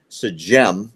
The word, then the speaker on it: Sejm: During Hanukkah, in the chambers of their parliament, which they call this Sejm, if I'm saying it right, S-E-J-M, it's the Polish word for their parliament.